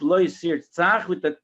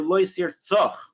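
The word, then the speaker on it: לא תרצח: I saw in a sefer, how do you pronounce it? Lo Yisirtzach or Lo Yisirtzoch? So it says in the sefer, both are true.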